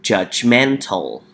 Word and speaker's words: judgmental: next one we have judgmental judgmental so we have three syllables the first one we need to say judge judge judge mental judgmental judgmental this means to